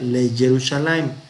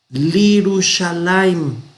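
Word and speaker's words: לירושלים: No, no se pronuncia le Jerusalén. Entonces, ¿qué hacemos? Lo mismo. Vamos a convertir una mater lectionis aquí. Entonces cerramos esto, borramos, cerramos esto, borramos. Y tenemos Lirushalayim.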